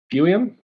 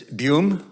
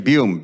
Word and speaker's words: Buium: The next speaker is number 3, Buiam. Mayor and Council. Mayor, it's Buium, and I've been here. I pronounced my surname Buium, B-U-I-U-M.